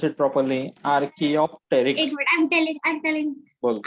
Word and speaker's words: Archaeopteryx: Pronounce it properly. Archaeopteryx.